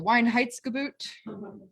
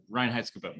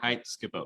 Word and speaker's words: Reinheitsgebot: The Weinheitsgebot? Reinheitsgebot. Weinheitsgebot. Yeah. Weinheitsgebot. Reinheitsgebot. Reinheitsgebot, but it's spelled with a W.